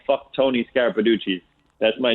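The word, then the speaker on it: Scarapiducci: Scarapaducci?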